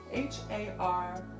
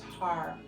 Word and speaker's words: Har: H-A-R, pronounced Har. In the end, we roll the R at the roof of the mouth.